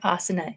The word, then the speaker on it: asana: movements i've got this the asana is a piece of software but asana is a yoga practice just so you get the pronunciation right but he wanted him